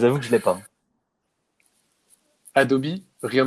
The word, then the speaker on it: Adobe: Adobe euh enfin oui, on prononce Adobe en anglais donc ça n'a rien à voir avec le ch les chaussettes que Harry lui donne.